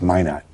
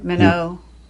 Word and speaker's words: Minot: It's Minot. Yeah, Minot, North Dakota. That's the French pronunciation. Yeah. We Americans call it Minot here.